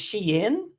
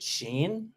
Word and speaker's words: Shein: I mean, so it's Shein. I'm still guilty of calling it Shein.